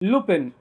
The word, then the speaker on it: Lupin: लुपन और लूपन as said in the French जहां पर आई साइलेंट होता है ये नाम लिया गया